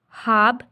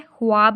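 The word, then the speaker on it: خواب: हाब सनाओ, हाब, ठीक है, ख्वाब नहीं कहेंगे हम, कहेंगे हाब सनाओ।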